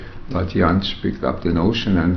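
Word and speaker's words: Jantsch: Another person that I wanted to ask you about, who's, well, Janisch, is that the way you pronounce it? Janisch, yeah.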